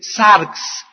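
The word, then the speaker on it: σάρξ: palabra carne es una palabra griega que se escribe sarx s de Samuel a r x sarx y esta palabra sarx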